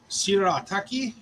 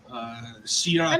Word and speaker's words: shirataki: Shirataki, maybe? I mean, presuming it's Japanese, because Yeah. that's what it phonetically looks like. So that should be Shirataki.